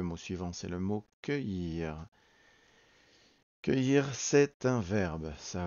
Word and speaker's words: cueillir: Donc on regarde le mot, déjà on entend cueillir, deux syllabes, cueillir, donc on voit que le début c'est un C suivi d'un U, on n'entend pas le U qui va permettre en